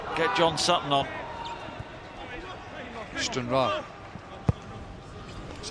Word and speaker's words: Stranraer: St Mirren down at Stranraer. Get John Sutton on. Stranraer. That's how you pronounce it, Chris.